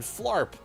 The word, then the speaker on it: flarp: Bear likes to spin, twist, and flarp. What? Yeah, flarping. It's when you float and simultaneously drop to the ground like a flop. It just happens to have an A sound to rhyme with sharp.